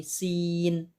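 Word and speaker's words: سين: Misalnya ada huruf sin, maka bacanya bukan sa atau si, bukan su, tapi sin.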